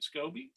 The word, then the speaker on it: SCOBY: that you once made a scoby is that pronounced right scoby yes you're correct that was in the shape